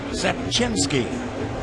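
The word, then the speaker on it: Rzepczynski: Tomorrow, Mark Sepchinski. The R is silent.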